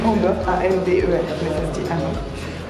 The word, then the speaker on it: Amber: Alors ça se dit Amber en fait, et pas Amber, ça s'écrit Amber, A-M-B-E-R, mais ça se dit Amber.